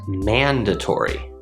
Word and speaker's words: mandatory: This word is pronounced mandatory. Mandatory. We have 4 syllables, man, da, tor, e, and the stress comes on the first syllable, man.